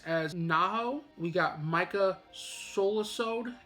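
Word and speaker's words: Solusod: got jill harris as naho we got micah solasode it's spelled s-o-l-u-s-o-d as kaharu you got jason laberchit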